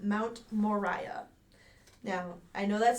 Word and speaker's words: Moriah: But it's spelled Moriah. Dang. Mine is spelled Mariah. And it's Moriah, not Moriah.